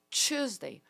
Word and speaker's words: Tuesday: Tuesday, faz biquinho. Tuesday.